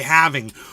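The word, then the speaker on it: halving: coming towards the fourth haling of Bitcoin and we're alreadying he he says haling and I'm like bro yeah there's an L in the word half but you don't pronounce it you don't say how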